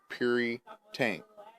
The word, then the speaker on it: Puritank: tank and it's not it's called curry tank like pure like puri tank and i don't know